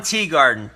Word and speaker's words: Teagarden: Ron Teagarden. T-E-A, like T is actually as it's spelt.